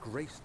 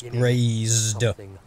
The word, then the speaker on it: grazed: realized we had but graced the orb's true potential. This might turn out to be more. That's not how you say grazed, bro. It's not graced. It's grazed. There's a Z in there.